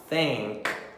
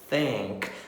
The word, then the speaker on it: think: Não vamos falar think, think, shrink, sgrink. Não, nós vamos colocar a língua nos dentes e vamos falar think, think.